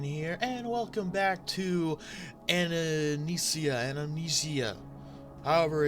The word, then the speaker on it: Anamnesia: It is not Amnesia, it is Anamnesia, whatever.